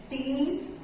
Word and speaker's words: treasure: Then the word is T-R-E-A-S-U-R-E T-R-E-A-S-U-R-E and it is pronounced treasure।